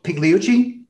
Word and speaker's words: Pigliucci: So, and I want to make sure I pronounce everything correctly, but Massimo Pigliucci?